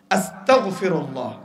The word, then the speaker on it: আস্তাগফিরুল্লাহ: কাফের হতে চাই নাউজুবিল্লাহ এই আস্তাক না পড়ে গাইন দিয়ে পড়বেন তথা বাংলায় উচ্চারণ তো সর্বোচ্চ হয় না যদিও আমি এটার ভিতরে প্রত্যেকটা দোয়ার বাংলায় উচ্চারণ দিয়েছি সহজের জন্য কিন্তু গইনকে গিয়ে পড়লে একটু কিছুটা আসে আস্তাগফিরুল্লাহ এটা পড়লে অর্থ হচ্ছে